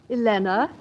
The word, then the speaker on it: Elena: Elena. Rhymes with Vienna.